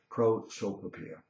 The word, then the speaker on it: prosopopeia: It's like a tongue twister for me, but finally I've got it down and I know how to pronounce it correctly, prosopopeia.